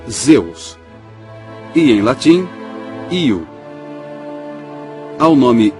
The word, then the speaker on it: Zeus: da tempestade era víamos em grego pronunciava-se zeus em latim eo ao